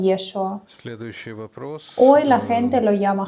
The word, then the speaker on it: Yeshua: En ese tiempo su nombre se pronunciaba como Yeshua porque ciertas letras no existían en su idioma. Por eso lo llamaban Yeshua.